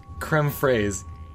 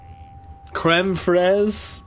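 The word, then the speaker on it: crème fraîche: um so yeah it's it's not creme phrase but it was just like okay Dino the chef sold the recipe okay I get that but just for future reference when you're pronouncing it it's just Fred creme frezh know the weapons I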